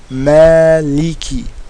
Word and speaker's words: Maliki: Now remember, anytime there's a kasra on a word, in order to pronounce the kasra fully, you have to smile. Maliki, okay?